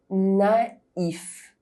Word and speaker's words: naïf: riz rice île island maïs corn With AI, the dieresis on the letter I indicates that you must pronounce each vowel separately: naïf innocent haïr to hate